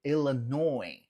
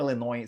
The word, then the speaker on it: Illinois: Então, assim como Illinois, você não pronuncia o S no final, Arkansas, você não pronuncia o S no final, tá?